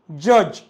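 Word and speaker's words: judge: नाही जी आला त्याच्यामुळे हा जोडी दिसतो याला सायलेंट ठेवतो सायलेंट ठेवतो म्हणजे त्याचा प्रोन्सशन करत नाही एझाम्पल बज ब्रिज फज जज लज प्लेज वेज ग्रजले महणजे तुमही नोटीस केलं का आपणडी च प्रोन्सशन केलं नाही द रिजन की आफ्टरडी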